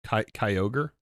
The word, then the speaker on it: Kyogre: It's like Yo Yogre. Like an ogre. Kyogre. Kyogre.